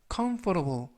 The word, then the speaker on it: comfortable: 중간 부분에 있는 알파벳 T는 부드럽게 트가 아니라 그래서 comfortable 이라고 발음하시면 좋겠습니다.